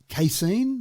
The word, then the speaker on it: casein: It uses a precision fermentation method to produce casein. That's how I pronounce it.